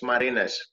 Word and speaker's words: Marinus: how's your name marinas is good too your pronounce nation was good it's marinas and and the and the last name it's